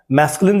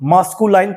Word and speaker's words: masculine: हुआ है MASCULIN, दोस्तों इसको बहुत से लोग मास्कुलाइन पढ़ देते हैं और नीचे वाले को दोस्तों फेमिनाइन पढ़ देते हैं। तो दोस्तों ये बिल्कुल रॉन्ग है, हमें ऐसा नहीं बोलना चाहिए।